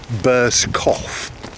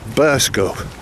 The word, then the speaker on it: Burscough: quite difficult on paper it looks like burst cough c-o-u-g-h but in actual fact it's pronounced burst go so i'm probably about